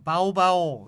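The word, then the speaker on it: เบาๆ: 쎄게 하라 는 말이고 약간 살살 해라 바오 바오 이렇게 게 바오 바오 이렇게 발음하면 되구요 저는 모르겠나 파워풀 이제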